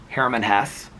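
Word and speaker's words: Hermann Hesse: I was like, "My mom liked Journey to the East more than Sedartha by uh I always mispronounced it. My mom would have corrected me. She would have said Herman Hess."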